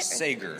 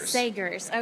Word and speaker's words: Sagers: Sagers. Sagers.